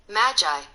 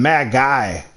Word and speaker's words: Magi: can hear it okay Magi it's Magi Magi mag guy I've been saying mad guy I was saying mad guy at first it's Magi Magi Magi